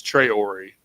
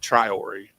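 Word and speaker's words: Traoré: It's Trey Ori, not Triori.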